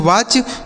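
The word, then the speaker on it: watch: तो डब्ल्यू से हो जाता है दोस्तों व। ए से हो जाता है आ की मात्रा। और इस टी सी एच को दोस्तों च पढ़ा जाता है। क्या पढ़ा जाता है? च। इसे पढ़ेंगे वाच मतलब हो जाता है देखना।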